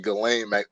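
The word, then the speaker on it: Ghislaine: do you know yeah uh galen it's actually gallant maxwell okay glenn maxwell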